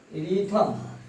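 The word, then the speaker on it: rhythm: जब किसी वर्ड में WCG और R के बाद H आता है तो वह साइलेंट हो जाता है। देखिए इसमें R, H साइलेंट हो गया, R के बाद H आया है। यह रिथम, ये आपका रिथम।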